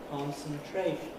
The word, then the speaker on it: concentration: let's say concentration concentration if i don't put an accent on the first one it sounds a bit strange concentration concentration of course that pronunciation with only one accent could certainly be found in running speech but when i want to say the word on its own it seems most natural to use two axes one on the